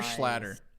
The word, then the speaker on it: Schlatter: Is it Schlatter or Schlatter? It's like Schlatter, like splattered, right?